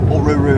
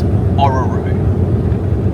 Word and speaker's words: Orroroo: brought to our attention we were saying or Ru wrong it's Oru so yeah apparently things